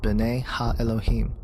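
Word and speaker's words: בני האלהים: The sons of God mentioned here in the Hebrew is pronounced B'nai Ha-Elohim.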